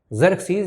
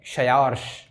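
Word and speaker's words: Xerxes: की मृत्यु के बाद उसका पुत्र ज़र्क्सीज़ या इसको हिंदी मीडियम में कहीं कहीं प्रोनाउंस कर देते हैं क्षयार्श, इसको बोलते हैं क्षयार्श। तो आप कंफ्यूज मत होइएगा, ज़र्क्सीज़ या क्षयार्श।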